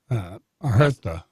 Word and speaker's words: Huerta: Huerta is the proper pronunciation.